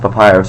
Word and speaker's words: Papyrus: It's apparently pronounced Papyrus, so I'll forever pronounce him Papyrus.